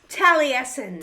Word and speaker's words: Taliesin: Frankl right okay say that one more time tesen tesen okay see Google didn't have to pronounce it Tracy did all have to do